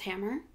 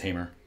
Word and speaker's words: Hamer: Unless you think it's pronounced Hammer. I think it's Hamer.